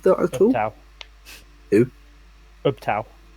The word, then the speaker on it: Ubtao: Ubtao. That's how I pronounce it.